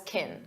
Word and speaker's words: can: When it's an auxiliary verb, we pronounce it as kin. Kin unstressed because the main verb is what you hear.